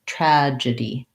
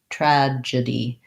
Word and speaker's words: tragedy: in the e sound first syllable stress tragedy tragedy um uh not tragic d so we have a schwa there and not die but d tragedy three syllables tragedy long short short the word croissants i